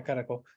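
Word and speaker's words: Caracol: Another draw is the Maya ruins, especially the archaeological site Caraco. Did I say it right? Yes. No, yeah, Caraco.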